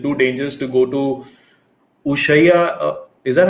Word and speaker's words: Ushuaia: Is it too dangerous to go to Ushaya? Is that how you say it? Ushai? Ushuaia or Punta Arenas look for the last minute deal to Antarctica.